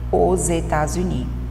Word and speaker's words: aux: Et le X n'est pas prononcé devant une consonne, mais devant une voyelle, le X est prononcé comme Z.